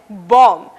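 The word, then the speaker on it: bomb: पहला उदाहरण है बॉम्ब। इस शब्द में आखिर का बी साइलेंट है, यानी कि खामोश है।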